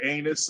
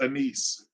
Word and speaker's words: anise: remember the other day I called it anus and they was like no it's pronounced anise Pine Juniper some some